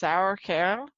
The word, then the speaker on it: Sauerkerl: Sauerkel, pronounced Sauerkerl, is for male.